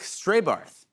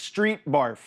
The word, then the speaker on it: Strétbarth: Here to comment is a potential Pete Hegseth voter, Dirk Straybarth. Hey, Dirk. Thanks for having me, Jimmy. Yeah. It's actually pronounced street barf.